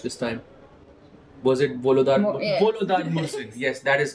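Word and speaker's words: Volodar Murzin: Wait, which correct pronunciation did I watch this time? Was it Volodar? Volodar Mursin.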